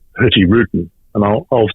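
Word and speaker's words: Hurtigruten: a truise company called Norwegian Cruise company called herty Ruden and I'll I'll spell that because it's an unusual word for most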